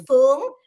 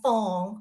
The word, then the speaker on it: Phuong: By the way, with the pronunciation of my name, there's two pronunciations. There's Phuong, which is the Vietnamese pronunciation, and Phong, which is the Chinese pronunciation.